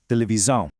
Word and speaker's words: televisão: In European Portuguese, whenever an S sits between two vowels, it makes a really distinct Z sound. So it's pronounced televisão.